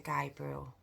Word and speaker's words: Gabriel: the Gabriel Fernandez story I did pronounce his name Gabrielle at the beginning and I do want